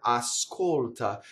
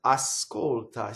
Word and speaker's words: ascolta: So there's one more thing if we back up to the word ascolta. When I speak, I can say a little bit of S on the first syllable, like this. Ascolta.